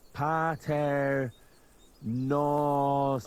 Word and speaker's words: Pater Noster: You're saying it wrong. Listen. It goes like this. Pater Noster.